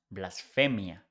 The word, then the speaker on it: blasphemia: When you see PH in English, it becomes F in Spanish. The pronunciation is the same, but spelling is different. So blasphemy is pronounced blasphemia, but the spelling is not with PH, is with F, blasphemia.